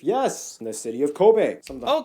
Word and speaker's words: Kobe: in the city of Kobe oh Kobe beef oh it's Kobe not Kobe Kobe beef that's good to know I'm sure my pronunciation